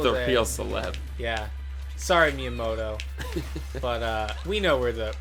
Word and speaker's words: Miyamoto: He really pronounced the T in his last name. Miyamoto.